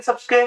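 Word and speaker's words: tsetse: और इसका वाहक सी फ्लाई। टी साइलेंट रहता भी है, सी मक्खी।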